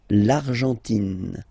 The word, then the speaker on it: Argentine: Okay, so you've got this nasal here. En, l'argent, and then tin. Don't pronounce the final E. It just gives you the pronunciation of the N. In. L'Argentine.